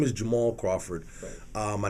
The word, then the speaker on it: Jamarhl: YouTube channel right right now my name is Jamal Crawford uh my name is spelled a little strange j-a-m-a rhl if you